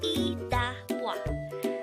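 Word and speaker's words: 이따 봐: Iddabwa could be divided into 3 syllables. Iddabwa. I is just the sound of I itself with a no sound iyong or a placeholder iyong at the beginning of the syllable. Da is formed from the combination of the sounds of sang dikot or double dikot and a.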